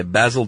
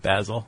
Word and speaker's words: Basil: Uh the following suggestion is used in a book by Basil Thompson. I'm so pleased that you said Basil instead of Basil.